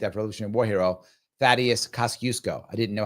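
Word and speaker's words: Kościuszko: I went to it and it's they pronounced it Kasusco. So that's how I think it is pronounced because that's how they pronounced it.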